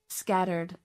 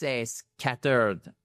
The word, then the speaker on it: scattered: I think they would misunderstand because you're putting the stress on the wrong place. Put the stress on the first scattered.